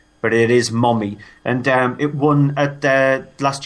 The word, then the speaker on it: Mommy: It is actually pronounced Mommy. It's the American way of actually spelling it, even though we would say Mummy, but it is Mommy.